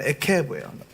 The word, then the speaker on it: עקב: 이번 주 우리가 묵상하고 훈련할 토라 포션 에케브예요.